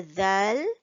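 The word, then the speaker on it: دال: Well, obviously, it's because when we want to pronounce dal, we will have to stick out our tongue, the tip of our tongue, in between the top front teeth and the bottom front teeth.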